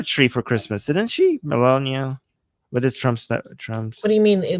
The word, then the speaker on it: Melania: Yeah, Melania.